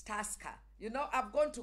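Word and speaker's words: Tusker: about people who drink and say people love true sky and I say it's not true sky in my head it's Tosca you know I'm going to correct you know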